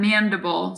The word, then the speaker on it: mandible: mandible to eat and mandible sounds like edible the next bone is